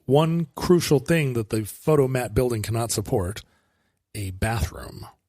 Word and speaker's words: Fotomat: F-O-T-O-Mat. Fotomat. Streamlined pronunciation was very big in America.